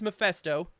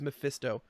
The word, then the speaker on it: Mephisto: painting that looks like maybe it's mafesto i mean mephisto also we got that wrong last week it is mephisto i watched so many